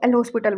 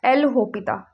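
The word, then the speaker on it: L'Hôpital: हॉस्पिटल नाम नहीं होता, टीचर्स सब इसको एल हॉस्पिटल बोलते हैं। इसका नाम होता है एल होपिता। क्या होता है, इसमें हमारा एस और एल दोनों के दोनों क्या होते हैं, साइलेंट होते हैं। क्या बोलते हैं इसको, एल होपिता।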